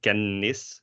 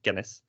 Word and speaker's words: kennis: We don't say kennis, you say kennis.